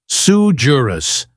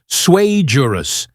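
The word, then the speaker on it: sui juris: It's not sujurus, my guy. It's swayjurus, which basically translates to I googled this 5 minutes ago.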